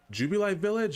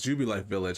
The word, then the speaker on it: Jubilife Village: not gonna lie i don't know how you pronounce this is jubilee village or i think it's jubilife village i think that's how you pronounce it uh